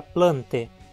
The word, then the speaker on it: plantae: ou como é e a sequência vai ser pronunciada como é sempre que vier dá sequência a e em latim como na palavra plante que significa plantas e de onde vem